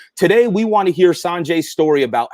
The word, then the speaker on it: Sanjay: Sanjay. Most people say Sanjay, but it's San.